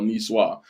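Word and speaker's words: niçoise: it yeah that's french he's spanish about no nicoise which was the correct pronunciation by the way i looked it up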